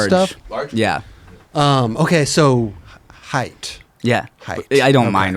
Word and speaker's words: Hiett: Is that the It's pronounced Hiett.